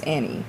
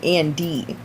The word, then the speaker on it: Annie: That's Annie. Oh, because I was hearing Andy.